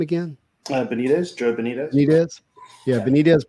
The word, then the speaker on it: Benitez: Benitez, Joe Benitez.